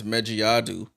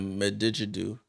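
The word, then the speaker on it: Magbegor: Oh, I butchered her name is Mejiadu. I said Medigidu.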